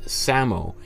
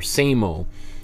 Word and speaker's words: SAMO: for creating this moniker called Samo, or same-o, depending on who you want to talk to about it, the pronunciation. And same-o is this, you know, it's spelled S-A-M-O, and it starts, this